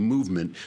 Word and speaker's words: MVMT: This one actually is spelled MVMT, movement, because for some reason these new companies, they can't use vowels.